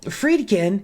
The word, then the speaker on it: Friedkin: But anyway, so Friedkin, hey, I said it right.